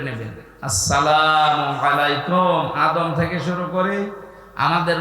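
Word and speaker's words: السلام عليكم: দেশসহ বিশ্বের বহু দেশে এই সালাম শব্দটা এখনো শুদ্ধ উচ্চারণে হয় না শিক্ষিত মানুষ আমরা দেখি এরা সালাম দেয় আসসালামু আলাইকুম যারা জবাব দেয় কি এটা কি মারা জিনিস নাকি জান্নাতের ভেতরে প্রবেশ করার সময় এই শব্দ দিয়ে আপনাকে সংবাদ জানাবে ফেরেশতারা সালামুন শান্তির সাথে প্রবেশ করেন এ শব্দটাকে যারা এখনো পর্যন্ত উচ্চারণে শেখেননি তাদের কপাল নষ্ট হওয়া না আজকে থেকে ঠিক করে নেবেন আসসালামু আলাইকুম আদম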